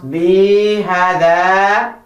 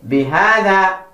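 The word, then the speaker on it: بِهَذَا: Now, if you stretch B and it sounds Bihada, that's wrong. The correct way to say is Bihada.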